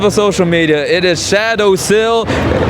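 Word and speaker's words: Shadosil: It is Shadow Sil. S H A D O S I L. Just how just how it is spelled like that.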